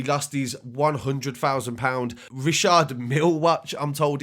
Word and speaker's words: Richard Mille: young Bane he lost these 100 thousand pounds Rashard meal watch I'm told it's pronounced a lot of people have been pronouncing that what's wrong because I've heard a lot of rappers say that it's Richard Mille but deli alley as well this isn't even